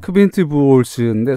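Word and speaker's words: Quint Buchholz: 아, 작가님이 발음하실 줄 압니다. 아니 크빈트 부올스인데 사실 그 뭐라고요?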